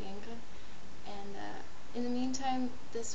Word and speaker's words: Ingres: and so I said, I think it's pronounced Ingres. But it's not at all pronounced Ingres, it's actually Ingres.